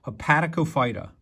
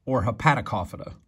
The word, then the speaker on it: Hepaticophyta: The next group is called the phylum Hepaticophyta or Hepaticophyta. You can pronounce it either way.